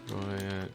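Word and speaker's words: guyot: Goyet pronounce...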